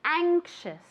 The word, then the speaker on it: anxious: Anxious. Anxious. The A is very nasal, okay? Anxious. Okay, with an SH sound.